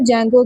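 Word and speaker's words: Django: आपकी बुक पे एक एग्जांपल दी हुई है जेंगो की। इसमें हम डी को साइलेंट करेंगे।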